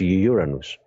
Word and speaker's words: Uranus: and by the way this is how to pronounce it so no funny jokes are made it's Uranus all right um so